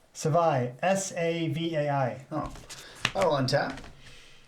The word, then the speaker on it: Savai: Savoy. Savai. S-A-V-A-I. Oh. I will untap. I will draw. I'm probably pronouncing it wrong.